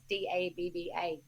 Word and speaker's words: Dabba: in underground now i actually know how to pronounce his name it's d-a-b-b-a dabba uh he has been picked up by